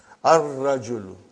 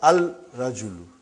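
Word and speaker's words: الرجل: Ar-rajulu. Huh? The man. Huh? Not al-rajulu. Huh? It will be wrong to say al-rajulu. It will be ar-rajulu. We won't pronounce lam. Why? Because it is a sun letter.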